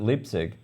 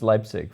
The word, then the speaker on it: Leipzig: that pronunciation because I've always called it lipstick so I'm from now on its Leipzig for me thank you tell me